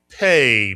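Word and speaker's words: פא: P is correct and it's called the pay mitsuan.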